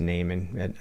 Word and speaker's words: Naiman: I think it's pronounced Naiman. I think not Neiman, I think it's Naiman.